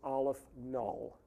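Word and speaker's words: aleph-null: Olive the subscript is zero and that is pronounced Olive null which is a symbol for a certain level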